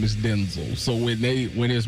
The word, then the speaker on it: Denzel: It's not Denzel, it's Denzel.